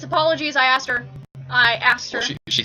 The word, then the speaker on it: Apple OGs: No, it's apologies. I asked her. Well, she spelled it. I pronounced it wrong and she corrected me.